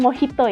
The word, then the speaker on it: Mojito: harus kita perhatikan contohnya huruf j dibaca jadi H Makanya kalau misalkan kita mau pesan Mojito itu bacanya mau Hito ya Terus kalau double